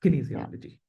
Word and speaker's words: kinesiology: किनीजियोलॉजी, okay, सही So है.